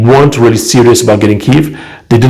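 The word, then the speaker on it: Kyiv: to pronounce that nowadays apparently the politically correct way to do it is kiev kiev is the russian pronunciation so let's just say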